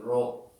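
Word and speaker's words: rho: called row row row you have to pronounce like row this is called a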